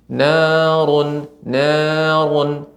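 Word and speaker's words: نار: Ya, untuk ra ya yang berharokat dhammah Ibu tetap tebal. Narun tebal.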